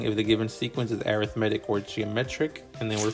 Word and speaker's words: arithmetic: and by the way I know it's spelled just like arithmetic but you have to say arithmetic if you are talking about sequences so we know that